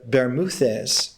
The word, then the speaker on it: Bermúdez: Shakespeare still doesn't refer to it as the Bermudas, but the Bermúdez, the Spanish pronunciation for the islands.